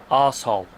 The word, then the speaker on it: arsehole: Oh no, we gotta say it properly over here. What? Arsehole.